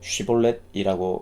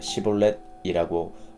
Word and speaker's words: 쉬볼렛: 물었다 그가 아니다라고 하면 그들은 쉬볼렛이라고 말해 보아라 했다 하지만 에브라힘 사람은 언제나 시볼렛이라고 하여 제대로 발음하지 못했다 그러면 그들은 그를 잡아다가